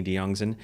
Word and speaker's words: Diongzon: all those stories on my YouTube channel de youngson uh you better spell that I will I will so not